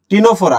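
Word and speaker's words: Ctenophora: দেখো তো টিনোফোরা বানানটা দেখো, CTNOPHORA, টিনোফোরা। এটা একটা পর্ব, বুঝছো?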